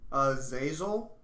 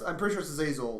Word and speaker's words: Azazel: Zazel? I'm pretty sure it's Azazel, like Azazel the Scapegoat, biblical character, if I'm not mistaken.